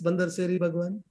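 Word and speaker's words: Bandar Seri Begawan: It's Bandar Seri Bhagwan, not Bandar. Bandar Seri Bhagwan, I believe the pronunciation.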